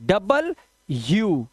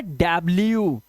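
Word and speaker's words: W: डबल यू। तो ये होता है डब्ल्यू। इसको मिला के बोलते हैं डबल यू। डबल यू। अंग्रेज लोग इसको डब्ल्यूडब्ल्यू नहीं करते। इसे बोलते हैं डबल यू।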